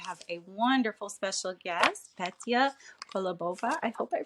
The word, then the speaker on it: Petia Kolibova: Today, I have a wonderful special guest, Petia Kolibova. I hope I pronounced that right.